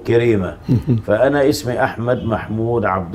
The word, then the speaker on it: كريمة: كرب سكنوا الصعيد الأعلى، ومن هنا كانت النسبة اللي هي أبو كريمة، لكن نحن في المدن يعني خففوا النطق قالوا كريمة، فأنا اسمي أحمد محمود عبد الله كريمة.